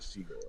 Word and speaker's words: Siegel: Same pronunciation, different. He calls it Seagal, but it's actually Siegel, right?